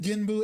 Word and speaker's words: Genbu: Oh wait, also I said Genbu and Suzaku correctly, you know? I'm not mispronouncing it.